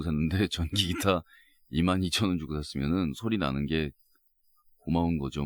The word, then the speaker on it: 솔리나: 솔리나 스트링 아 그게요 우리나라 콩글리시 발음대로 그대로 읽으면 소리나요 제가 사실 머리 클려고